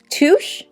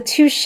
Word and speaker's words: Touche: because it's bougie language this is the touch no not touch the touche eot blur Primer take